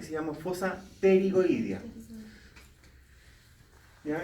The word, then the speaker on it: pterigoidea: y se llama fosa pterigoidea. ¿Ya? En rigor se escribe con P antes. Pterigoideas. Creo que escribir bien, pero si lo escriben con T. Pterigoidea.